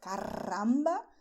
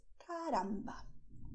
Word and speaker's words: caramba: Okay, it's not caramba, it's caramba.